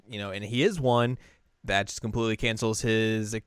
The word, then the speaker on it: An: Yeah, they pronounce it on.